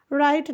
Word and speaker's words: right: राइट नाउ, RIGHT। देखिए GH यहाँ पे साइलेंट है, GH को हम साइलेंट पढ़ देंगे, कर देंगे यहाँ पे।